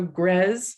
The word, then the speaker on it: Grzes: So Grez sounds like Pez, even though it's actually spelled G-R-Z-E. That can throw a lot of people. So Grez like Pez, Cove, and Yak.